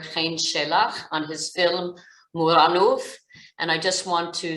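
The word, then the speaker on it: Muranów: So this film grabbed me immediately, and I will be pronouncing it the Polish way, which is Muranow, even though I think for many people, they will pronounce it Muranow, which is completely fair,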